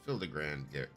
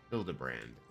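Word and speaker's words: Hildibrand: Since parting ways, I've researched every alley in Dar and Everkeep for signs of this filigrand character. It's pronounced Hildabbrand.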